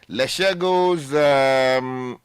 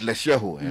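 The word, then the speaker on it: Lesego: The big story, Leshego's 200 million Ghana solar loan. It's Lesheho. Lesheho. Okay. The G is silent.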